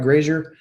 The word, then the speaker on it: Grazier: Grazier?